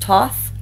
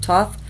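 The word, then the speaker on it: Thoth: two Alister CR Crowley I believe they're pronounced Toth tarot decks I have this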